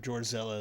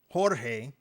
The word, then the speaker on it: Jorge: You Okay, let me see what Gorilla is. I think he called me a Hold on. No, it's uh Jorge. You have been pronouncing it my name wrong and just photonically Horzilla.